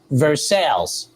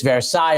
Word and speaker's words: Versailles: It's funny because in Kentucky, the street that Keeneland's on is, they pronounce it Versailles. And obviously it's Versailles over there.